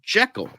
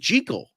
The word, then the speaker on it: Jekyll: Jekyll, because before this, the only other sound movie pronounced it the correct way that Robert Louis Stevenson wanted it to be pronounced, because it's supposed to be pronounced Jekyll. And the 1931 movie was the only one that got it right, but this was the first one to say Name Jekyll. to say Jekyll, not Jekyll.